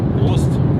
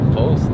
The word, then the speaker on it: Prost: How do you say it? Prost. Post. Like cheers, that's Prost. Post. Prost.